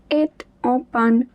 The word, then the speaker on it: est en panne: And there is a liaison, so the T at the end of est will also be pronounced. La sono est en panne.